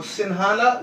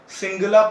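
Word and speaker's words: Sinhala: 74% श्रीलंकन जो हैं वो सिन्हाला लैंग्वेज बोलते हैं, सिन्हालीस, ठीक है। सिंगला प्रोनाउंसिएशन भी होता है, some people used to डू सिंगला, ठीक है।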